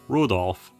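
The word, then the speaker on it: 留弗夫: That mess of characters is pronounced Rudolph.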